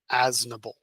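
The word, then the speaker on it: Aznable: If uh what how do you actually pronounce their name? I'm sorry. Asnble.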